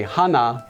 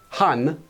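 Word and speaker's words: 한: that's Madhi one cow you wouldn't say Hana body you would say hun body or if you're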